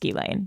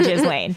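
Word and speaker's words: Ghislaine: gizan who I found out her name is pronounced gilain it's gilain jizan it's not gizan okay this is also connected to gilain and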